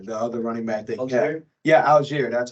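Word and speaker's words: Allgeier: rusher last year the other running back yeah Alger that's how you say it um I think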